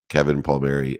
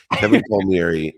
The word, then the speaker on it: Kevin Palmieri: two incredible partners in crime, Next Level University, Kevin Palmieri, Alan Lazaros. Is that how I pronounce it, Alan?